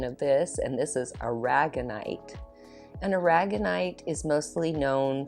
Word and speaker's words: aragonite: that is beautiful all right then a polished argonite oh wow i would have thought that i was like you know petrified wood look how pretty i also looked up the pronunciation of this and this is aragonite an aragonite is mostly known for perception for